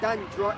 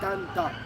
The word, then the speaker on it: dander: It's not dandra, it's dander. Yes, so the spelling is D-A-N-D-E-R.